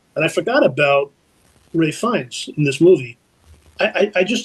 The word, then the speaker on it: Fiennes: My pick that year was Ralph Fiennes, or Ralph Fiennes, however people want to pronounce it, but it's Ralph Fiennes.